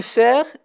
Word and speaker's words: cerf: gazelle et le cerf le fn ne se prononcent pas comme la clé la femelle du cerf et labiche son petit